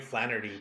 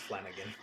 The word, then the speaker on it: Flanagan: written by Mike Flanagan I always want to say his name is Mike Flanery but it's not it's Flanigan right this is like